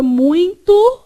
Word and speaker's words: muito: A palavra muito é nasal. Não está escrito N, mas aqui tem som de N.